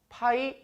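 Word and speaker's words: π: 4 이 문제는 요 어떻게 읽으시면 되냐면 요 그리스 본자 이고요 있는 방법은 파이 라고 읽어주시면 됩니다 그리고 이 파이는 요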